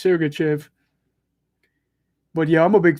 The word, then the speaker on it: Sergachev: name wrong for years i always thought it was sergachev but it's surrogachev but yeah i'm a